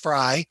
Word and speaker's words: Frey: the fry house now this is f-r-e-y it's pronounced fry the fries came to